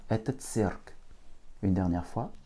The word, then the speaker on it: цирк: Une seule voyelle, donc une seule syllabe, donc l'accent tonique dessus. Cirque. Еще раз. C, I, R, K. Это цирк.